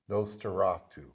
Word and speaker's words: Nosferatu: N-O-S, Nosferatu.